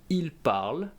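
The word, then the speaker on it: ils parlent: It ends with the ent, and I do not pronounce the nt, they are actually silent. So we say il parle, elle parle.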